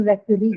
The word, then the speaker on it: referee: So the ee that you see is a suffix, and it's a long vowel, right? And whenever you have a long vowel in a word, usually the stress is on that particular syllable which carries the long vowel.